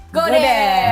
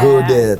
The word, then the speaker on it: Godet: Bacanya gimana? Godet apa Gode? Gode sih biasa. Gode. T-nya nggak disebut. Katanya Gode ya guys, jangan godet bacanya.